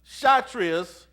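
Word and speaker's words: Kshatriya: cast then your shatas and the K is silent here it's uh chrias they are the Warriors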